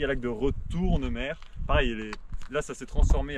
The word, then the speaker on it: Retournemer: Après, il y a le lac de Retournemer. Pareil, là, ça s'est transformé. Alors, l'écriture a changé en MER et la prononciation est exactement pareil, en mer.